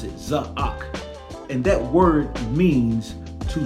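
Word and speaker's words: צָעַק: hyphen AQ and that means Zak that's how pronounce it zahak and that word means to summons it does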